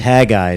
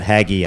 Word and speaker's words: Haggai: That's pronounced Hagi, not Haggi.